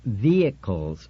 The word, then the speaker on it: vehicles: It's pronounced vehicles, Richard. No H. Accent on the first syllable and you don't say travels slow or see good.